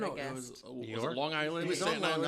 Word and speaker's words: Long Island: It's got to be Long Island.